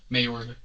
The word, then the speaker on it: Mayorga: Mayorga. Okay, I'm pronouncing that correctly? Yes.